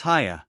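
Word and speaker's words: Haigha: happy his name is haa he pronounced it so as to rhyme with mayor I love my love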